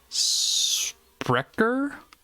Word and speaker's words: Sprecher: it out right but it is sprecker i'm guessing the pronunciation there looks german sprecker root beer if you